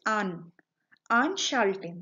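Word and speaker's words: anschalten: here is the prefix on aren't shouting that is how we pronounce it on charlton which means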